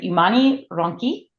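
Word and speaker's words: Umani Ronchi: We're starting with Umani Ranchi. So Michele, am I pronouncing that all correctly?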